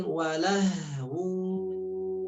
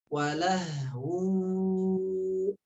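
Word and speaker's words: وَلَهْوٌ: Kemudian walahu, haknya besar ya, tapi tidak terlalu ngebas sehingga walah tidak ya, tapi sedang bunyinya. Walahu.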